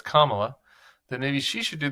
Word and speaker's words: Kamala: Suggests that if he was going to put the emphasis on the last syllable of Kamala when it's Kamala, then maybe she should do the same and refer to him as Don Old.